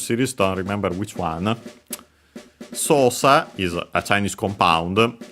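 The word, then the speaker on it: 操作: Sosa is a Chinese compound. This one is accent on the first syllable. We could say first mora, doesn't change. So high, low, low.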